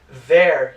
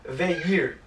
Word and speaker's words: they're: Uma coisa interessante na pronúncia do they are, contraído, que fica there e não their.